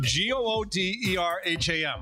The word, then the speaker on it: Gooderham: saying that's not my g-o-o-d-e-r-h-a-m how would you pronounce it how else can you pronounce it could you please call him Mr gooderham they just keep going